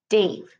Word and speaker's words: Dav: When he received his name tag, the E was missing at the end of Dave. He liked the new spelling and became Dave, still pronounced like Dave.